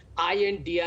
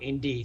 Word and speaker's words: INDIA: Navika, first and foremost, I think elementary knowledge, INDIA is pronounced as India, not Indy.